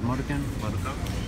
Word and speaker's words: Marukan: How do you say it's Marukan?